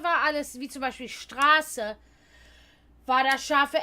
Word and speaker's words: Straße: denn mir wurde beigebracht, dass, wenn es ein scharfes S hat, dass der Buchstabe davor, was normalerweise dann ein Umlaut ist, lang ausgesprochen wird. Straße.